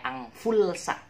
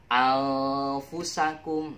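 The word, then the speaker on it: أنفسكم: Tapi sekali lagi jangan bacanya angfulsa, nanti dimarahin oleh Pak Ustadz. Oke, anfusakum.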